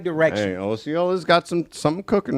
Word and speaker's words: Osceola: I've heard that pronounced both ways too. Osceola, Osceola. Osceola. I don't think you can go wrong with either one as long as you get the Ciola part right.